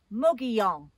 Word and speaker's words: Mogollon: How do you pronounce that? Mogollon.